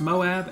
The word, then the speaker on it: Moab: stopped in I believe is I believe it's pronounced Moab M OAB um kind of where a lot